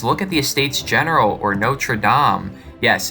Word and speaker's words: Notre-Dame: research and just look at the estates-general or no true Dom yes it's pronounced nature Dom not notre-dame please don't pronounce it no true or Notre